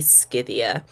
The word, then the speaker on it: Scythia: working they are obsidia I'm probably pronouncing this wrong I've probably been pronouncing it wrong this entire time because there was no Soft C in Greek so it would probably be scythia you can't see how